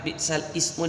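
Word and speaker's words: بئس الاسم: wala tanabazu bil alqab bi'sal ismul fusuqu ba'dal iman. Bagi yang memegang tilawati sudah jelas, di situ ada warna merah bi'sal ismu dibaca bi'sal ismu.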